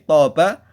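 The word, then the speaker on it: طاب: Kalimat kedua, kata yang kedua yang digarisbawahi toba artinya menjadi baik, menjadi lezat. Jadi beda. Hampir mirip kosakatanya tapi hurufnya beda, maknanya pun beda, tetapi pengucapannya, vokalisasinya atau bunyinya hampir sama.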